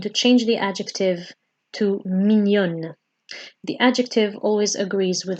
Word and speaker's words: mignonne: So here you might notice that I'm pronouncing the n sound more because we're adding an ne at the end. So this tells us that we need to actually emphasize the n sound.